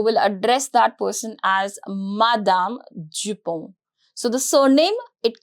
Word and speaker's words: madame: Madame, Madame. The pronunciation is very simple.